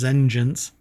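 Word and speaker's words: Zengence: At first glance, Deepwell's DTX is Zengens, pronounced like vengeance, but what the hell?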